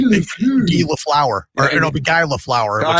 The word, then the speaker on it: Guy Lafleur: It's spelled Guy. I don't want you to say, hey, I'm Guy, because a man is only a guy. I'm Guy Lafleur. No, I'm Guy Lafleur. It's French. Well, then it'd be like Guy Lafleur.